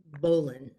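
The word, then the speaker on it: bowline: and this particular one is called a bolon it's spelled b-o-w-l-i-n-e but it's pronounced bolon and some people will argue with that but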